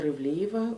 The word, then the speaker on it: Ivliyeva: and might be a little bit difficult to pronounce i respond to uh dr dr ivliva or simply as one of my previous students